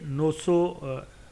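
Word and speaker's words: Knossos: जाती है जैसे लफ्ज कोनो सो वैसे ये नोसो पढ़ा जाता है के साइलेंट है जो मैंने डिक्शन में देखा है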